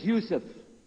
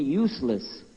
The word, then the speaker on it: Yusuf: we'll work on it sh my name is Yousef can you say Yousef you say Yousef you're very good I wish you teach my wife she keeps mispronouncing it she calls me useless attention this is the first one you see